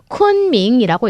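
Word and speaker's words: 昆明: 여러분 이 지명은요. 쿤밍이라고 읽습니다.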